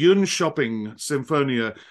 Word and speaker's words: Jönköping: I had to look this name up and to learn how to pronounce it, the Jönköping Sinfonietta in Sweden, and then also an orchestra in Athens.